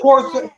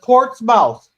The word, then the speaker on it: Portsmouth: Say it right, or no, he says Portsmouth. It says Portsmouth. But it's pronounced Portsmouth.